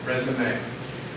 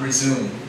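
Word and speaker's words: résumé: think sometimes they put a little dash on that last e something like that resume not resume it's spelled the same as resume which means continue but it means something different resume is the paper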